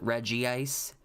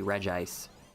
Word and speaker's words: Regis: curious what was the final number i still pronounce it reggie ice they make reggie's names too necessarily hard yeah you're right i used to call it reggie ice for the longest time and i didn't find